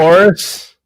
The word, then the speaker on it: Horus: Christ born of a I don't I can't pronounce the ages Horus Egypt like Horus yes born of a virgin, birthed announced by